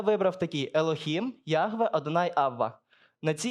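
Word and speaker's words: אלוהים: створив небо та землю в оригіналі на євриті слово Бог читається як елохім елохім це слово є в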